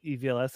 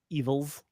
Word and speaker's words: EVLS: EVLS? It's not Evils. I've heard some people say Evils, but no, I call it EVLS.